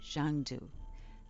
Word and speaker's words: Xanadu: The most remarkable of all, though, was Xanadu, pronounced Zhangdu, the palace of the great Khan.